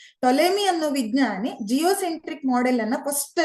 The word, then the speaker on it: Ptolemy: This is invented by Ptolemy. Here P is silent. Ptolemy ಅನ್ನೋ ವಿಜ್ಞಾನಿ geocentric model ಅನ್ನ first ಅಲ್ಲಿ ಏನ್ ಮಾಡ್ತಾರೆ, ಸೋಲಾರ್ ಸಿಸ್ಟಮ್ ಅಲ್ಲಿ ಫಸ್ಟ್ ಜಿಯೋಸೆಂಟ್ರಿಕ್ ಮಾಡೆಲ್ ಅನ್ನ ಪ್ರೊಡ್ಯೂಸ್ ಮಾಡ್ತಾರೆ.